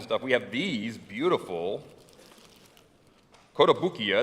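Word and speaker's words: Kotobukiya: we have these beautiful kota bukia and that's how you say it kodabukia statuettes we not only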